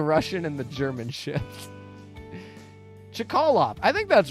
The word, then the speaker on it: Chkalov: how to pronounce to names you could easily pronounce, especially the Russian and the German ships. Chkalov. I think that's right. Chkalov is right.